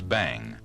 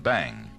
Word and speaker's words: bhang: The cheapest form of marijuana and the type containing the least THC is known as Bhang, B-H-A-N-G, Bhang, and it's derived from the cut tops of the uncultivated hemp plant.